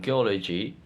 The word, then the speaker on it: geology: Geolog Geog geology geology word formation gloology become geology stress pattern geology explanation the suffix logi systematically attracts stress to the presuffix syllable producing a stable and predictable stress pattern.